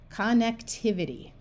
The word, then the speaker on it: connectivity: Right here, this I is in the middle of the syllable, so it will have the short I sound.